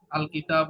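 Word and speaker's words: الكتابُ: এন উচ্চারণ হবে না, তানবিন হবে না।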